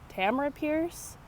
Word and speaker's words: Tamora Pierce: I pronounce it Tamora Pierce. I've also heard it pronounced Tamara Pierce.